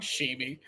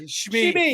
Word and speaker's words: Shmi: I said her name wrong. Shimi. I'm tired. Shmi.